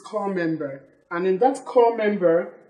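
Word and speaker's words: corps: core member, core member, you discover that P is silent here as well as S. Everybody say core member. Core member. Core member. Core member. It is wrong to call copper.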